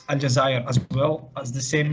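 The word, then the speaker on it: الجزائر: have the capitalist Algiers in French it's algae and in Arabic it's aljazair as well as the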